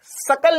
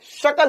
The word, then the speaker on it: शकल: वो सकल नहीं होता है, शकल होता है, शकल। तेरी शकल खराब नहीं है, तोतला तोतलेपन कर मत बोला करो। शकल खराब नहीं, उच्चारण सही से करो।